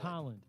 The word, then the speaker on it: Tolland: It's Tolland. Tolland.